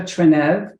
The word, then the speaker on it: Trenev: would you mind introducing yourself and giving the correct pronunciation of your last name as well? My pleasure. My name is Trenev.